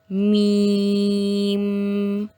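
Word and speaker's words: ميم: The next one is lam, lam, मीम, मीम। जब हम इसको प्रोनाउंस करेंगे एंड पे जो साउंड होगा हम क्या करें, ज्वाइन कर देंगे अपने lips, like मीम, Noon, Noon has one dot at the middle.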